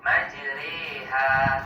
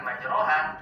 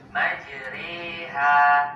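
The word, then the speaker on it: مجريها: di ayat ini tepatnya pada kata majroha terdapat hukum bacaan imalah imalah adalah mengucapkan suara fathah condong ke arah kasrah sehingga terdengar bunyi seperti huruf e majreha patokan suara e-nya sama seperti pada kata sore tempe majri jadi bacanya bukan majroha tapi majriha coba kita simak bacaan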